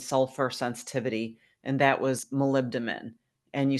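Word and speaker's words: molybdenum: And that was malibdamin. And you spell that m o l y b d e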